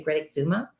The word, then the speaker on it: Great Exuma: sandals emerald bay on great exuma island i think is how you say greta zuma okay um they were